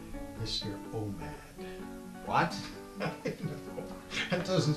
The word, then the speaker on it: Omad: Just make sure when you say it, you don't pronounce it exactly the way it's spelled. He seems a little sensitive about that. Just try it with an accent or something.